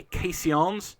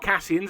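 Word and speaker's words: caissons: wagons so that's their case yawns not castles as I've pronounced some previously Casey ons carts you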